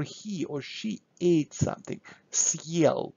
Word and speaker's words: съел: Now look, now my heart sign will give me opportunity to have kind of break in the middle of the word, съел, сел. So we pronounce it very quickly, very smoothly, and then съел.